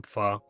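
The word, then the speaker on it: pho: Yeah, I just got uh some some fur. Nice. Got some fur. What's that? That's um Thai soup. Okay. It's spelled like ph in English.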